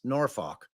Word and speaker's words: Norfolk: it's it's alli's correct Norfolk which is how I pronounce it but lindsy Bay says it's norfol so I I I think